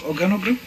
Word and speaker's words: organogram: Just say it again. Programogram. That word that I am not able to pronounce. I hope you are able to pronounce it yourself. I come from Nyandarua. It's difficult to pronounce some of these words. Organogram? Very good.